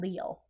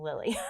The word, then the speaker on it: Lille: It's Lille. Okay. So you were saying it right. I wasn't. Oh, I was saying Lily.